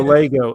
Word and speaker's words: LEGO: a radio read had the pronunciation for Lego l a y g o Lego that's how you pronounce it that's how they wanted